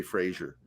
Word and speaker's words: Fraser: More Brendan Fraser, please. By the way, he gets mad if you say Fraser. It's Fraser. He's weird. With a Fraser. Z? Yeah, pronounce it like Fraser. Like laser Fraser. Or Razor.